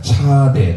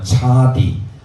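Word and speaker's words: צדי: 우리는 18번째를 할 건데요 한글로 쓰자면 차라고 발음하기도 하고요 여러 가지로 발음할 수 있습니다 차대 또는 차디 또는 쌍지 가지고요 짜디 또는 짜 어떻게 읽어도 상관없습니다 저는 이렇게 읽도록 하겠습니다 함께 고합니다 짜디 짜디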